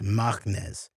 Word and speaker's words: Machnes: My cousin, Benjamin Machness, another Benjamin, and the last name is spelled Machnes, Machness.